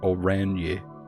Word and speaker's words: orange: Revachol, orange is pronounced Oranje.